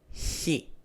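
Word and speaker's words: χι: Next letter here is Hi. Hi. With the pronunciation of H. H. Let's pair it up with the vowels. Ha, Ho, Hi, He, Hu. As you can hear, this is very similar to the English H.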